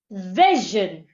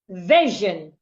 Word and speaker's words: vision: i o n o when we have letter i before s i o n s i o n will sound Jen it is not every